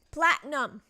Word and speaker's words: platinum: Could get rid of that platinum. Platinum. Platinum. The I is silent.